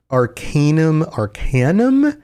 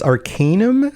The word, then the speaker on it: Arcanum: I always pronounced Arcanum, but it's Arcanum.